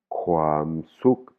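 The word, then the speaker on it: ความสุข: le bonheur en thaï, on dit khwam suk khwam suk, hein, on a bien suk, c'est voyelle courte et khwam suk, hein, on entend bien la différence entre la voyelle courte et la voyelle longue.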